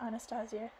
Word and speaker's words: Anastasia: Anastasia said waking me I'm going to call her Anastasia because that's the actual pronunciation the Russian pronunciation not the English I felt her massaging